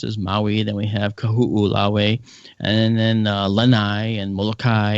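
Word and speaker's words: Kahoʻolawe: So it's kahu'u, lawe. So kahu'ulawe.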